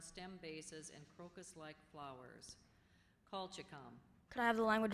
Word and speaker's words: colchicum: Okay, the next word is colchicum, a plant, bulb, or flower of a genus of chiefly fall-blooming Old World herbs having modified underground stem bases and crocus-like flowers. Colchicum.